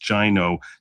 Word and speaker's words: GINO: what a gino is also pronounced gino not go like the name go but gino like rhyming with the word rhino because that's the point